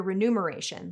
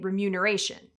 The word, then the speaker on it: remuneration: It's not uncommon to hear remuneration, like numeral, but it's MUN, not NUM, so we should all be saying remuneration.